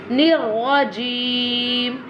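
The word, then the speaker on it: الرجيم: Nirrajim, nirrajim. This one ra will be bold. Yeah, very nice. And this one ra always pronounced with a thicker voice.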